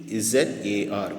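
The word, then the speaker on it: Czar: Little jar, யூ சி ZAR, but you have to pronounce Zar.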